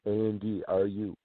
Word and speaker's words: Andru: Yes, I know it's spelled weird, but it's Andru, winter, as in the